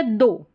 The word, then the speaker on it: though: ये हो गया दो, ठीक है, THOUGH, दो करके ओ साउंड आ रहा है OUGH का, ठीक है, द पे